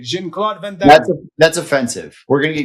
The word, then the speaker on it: Jean-Claude Van Damme: That's his French or Brussels. That's how you say it. Jean-Claude Van Damme.